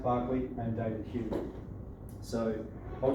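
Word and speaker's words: Berkeley: attributed to John Locke Barkley pronounced Barclay and David Hughes so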